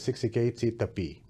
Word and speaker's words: Siksikaitsitapi: So you see on that image in front there that it says Siksikaitsitapi, and that's how you actually pronounce that word.